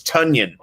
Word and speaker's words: Tonyan: about uh robert tanyan i think it's tonya because he said it rhymes with funyun like i got a